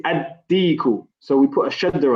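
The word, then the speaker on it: الديك: Deekun, we say ad-deeku.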